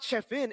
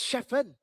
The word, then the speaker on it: Chefen: It's not Chefin, it's Chefen.